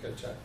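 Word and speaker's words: Kecak: But there are solos in the ketchak.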